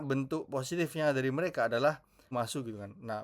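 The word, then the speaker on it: ます: Karena bentuk positifnya dari mereka adalah masu gitu kan. Nah, bihiragana masu gitu meskipun bacanya mas ya.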